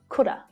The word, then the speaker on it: coulda: hear that v sound could have can also sound like coulda coulda you could have brought